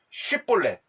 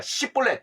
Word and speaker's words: 쉽볼렛: 자, 6절에 보니까 쉽볼렛, 그 다음에 십볼렛. 다시 말해서 발음을 어떻게 하느냐에 따라 그 에브라임 지파가 쉽볼렛을 잘 발음을 못하니까 십볼렛 이렇게 발음하면은 그냥 잡아서 죽였다라는 거예요.